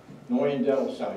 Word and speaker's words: Neuendettelsau: He transferred for a series of parishes on that vicarage assignment before finally settling in Neuendettelsau. I've got to get the S in there. Neuendettelsau.